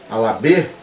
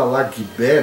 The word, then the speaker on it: Alabê: Otum Alagbé e Ossi Alagbé, Alabê, a gente fala Alagbé, mas esse G é mudo, então seria Orum, né?